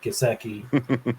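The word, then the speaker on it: Gesicki: two good tight ends with kaseki I'll I'll pronounce it for you kaseki and Henry and Henry yeah I I do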